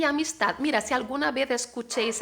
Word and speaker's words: amistad: No una sonrisa de escarnio, pero de compasión y amistad. Mira, compasión, como se escribe, lleva tilde, y amistad. Amistad con la T y una D muda.